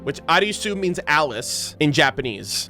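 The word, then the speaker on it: アリス: So that name right there is Eris or Arisu, which Arisu means Alice in Japanese. That's how you would pronounce Alice in Japanese, like Arisu.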